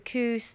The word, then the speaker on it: Kus: spell that because it it's spelled differently to how it's pronounced right k k s so it's not like C but it's pronouned cous the cous yeah yeah it comes